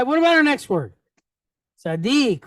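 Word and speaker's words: צדיק: So we have the first syllable goes from being tza to tzad. Then we pick up the second dalet and the kirik yod and the kuf at the end, right? Dik. Tzaddik.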